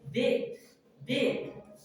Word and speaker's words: debt: Teachers DEBT. इसको हम लोग depth बोलते हैं. It is wrong pronunciation. The right pronunciation is date.